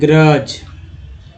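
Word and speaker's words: grudge: ग्रोइनी, growth, ग्रबी, ग्रुबी, ये ग्रज, डी यहाँ पर साइलेंट है, ये ग्रुवेल्स।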